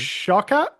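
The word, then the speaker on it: Shawkat: Shaka, I think is how it wants to be. We are famously bad at last names. We're bad. Love you, Alia girl. Sorry. Shakat, I think is how you say her name. Correct.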